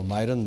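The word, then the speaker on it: Miran: 지금 중요한 말씀을 하셨는데 결국은 저 스티브 마이란 요새는 뭐 우리 언론 매체에서도 미국 사람들 자기들 그냥 발음대로 마이런 마이런 이렇게 표기하는도 많더라고. 우리 처음에 미란 보고서 이랬는데 음네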